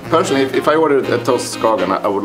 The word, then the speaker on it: toast skagen: To start, a toast, skagen. Pronounce, please.